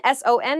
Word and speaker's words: son: a daughter taken it's son a male child is someone's son son s o n is pronounced exactly the same as s u n son what are you